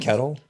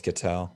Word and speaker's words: Ketel: It's not Ketel Marte though. It's not Kettle. Eugenio Ketel. Oh, it's Ketel.